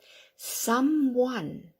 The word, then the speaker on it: someone: experienced worldly Wi-Fi workshop someone now you know that oneis pronounced like a woof don't but we have a synonym wo n which is also one okay so someone and